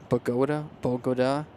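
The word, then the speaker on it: Bogotá: I always mispronounce this. Bogota.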